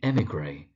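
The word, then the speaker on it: émigré: You do sometimes find people struggling to pronounce the emigre, that's the emigre, and kamikaze, that's kamikaze.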